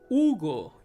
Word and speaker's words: Hugo: the letter u ugo hugo so in english you pronounce it you might say hugo but in spanish you say hugo you don't pronounce the h and the next one